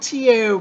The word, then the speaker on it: Tao: It's spelled T-A-O, but it's pronounced like a D, Tao.